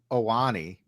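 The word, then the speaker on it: Ioane: Ione, yeah, I think it's Owani. Because usually the first letter is not is silent. So I believe it's Owani. Well, yeah, Devin will know.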